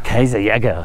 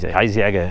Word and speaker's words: Kaiserjäger: Kaiserjäger. Mi aveva anche insegnato Simon a pronunciarlo. Infatti non si pronuncia così. Kaiserjäger.